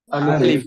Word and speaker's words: ألف: ألف মাশাআল্লাহ, আলিফ অক্ষরে কোনো টান হবে না।